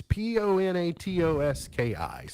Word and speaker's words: Ponatoski: Matt Ponatoski, am I getting that right? I don't know how to say it. It's Ponatoski. So He's a we'll do Moeller the man, best that though.